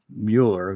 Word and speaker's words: Mueller: I I like to say um Mueller because that's the way it's pronounced in German.